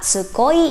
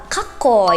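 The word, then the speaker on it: かっこいい: Ini bacanya bukan tsukoi ya teman-teman, tapi bacanya adalah kakoi. Huruf K-nya tuh menjadi tebal karena diberikan penekanan oleh se kecil tadi.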